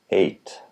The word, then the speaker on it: eight: there eight and eight IPA eight silent gh of course in the